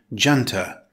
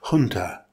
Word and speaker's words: junta: A note on pronunciation, in British English we say junta. In American English, the pronunciation is close to the Spanish, junta.